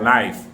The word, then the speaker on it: knife: He said, 'Well, she said the K is silent.